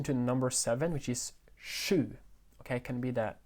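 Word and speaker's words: sju: have em attention to number seven which is shu okay it can be that pronunciation is shu okay if it's difficult for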